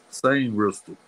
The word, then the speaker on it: Sainristil: Saint Ristel.